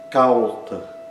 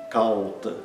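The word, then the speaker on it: kauṭa: Outro exemplo, cauta. Cauta, que significa fraudulento, falso. Uma coisa que engana as pessoas. Cauta. Esse ditongo, ao, é longo, tem o dobro da duração de uma vogal curta. Assim como o ai também.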